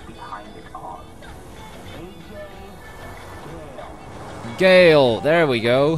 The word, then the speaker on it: Ghale: Ghale, there we go. He's one of the few people that says my name right. Everyone's like, Ajay Ghale, Ghale. Ghale, Ghale, that's how you say it.